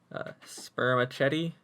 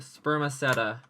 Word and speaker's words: spermaceti: organ now called this sperm a Chetty organ sperma Chetty sounds like just the most disgusting past a dish ever conceived how do you say that sperm said spermaceti spermaceti this organ now called the